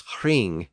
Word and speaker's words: hring: They were often pronounced with a slight breathy sound before the initial R. So a word like ring was hring in Old English, spelled H-R-I-N-G, and roof was hroof, H-R-U-F.